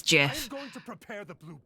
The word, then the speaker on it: GIF: world it's an acronym acronyms have their own independent pronunciation from the words they represent GIF is correct yeah yeah how I feel about it but the Creator says it's Jiff if you aren't at